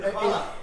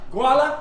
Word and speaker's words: Hvala: Hvala. Hvala. Guala?